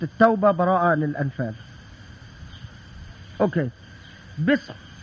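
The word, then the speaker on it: بسم: hamza because it's redundant, so it became bism, because that's the way it's pronounced, so it's bism.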